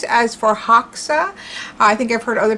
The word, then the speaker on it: Förhäxa: up just to see how it would be pronounced in swedish and the one site that i found has it more as for heixa for hexa instead of ha a more of a hay